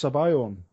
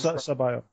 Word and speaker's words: Sabayon: I believe it's Sabayon, but it's an Italian dessert. It's an Italian dessert. Right. So I believe it's Sabayon.